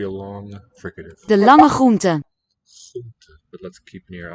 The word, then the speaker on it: groente: one of the most fascinating questions about Dutch pronunciation to me is the many variants of the R phoneme. Here it's after the laryngeal ch, that real deep guttural one. De lange groente.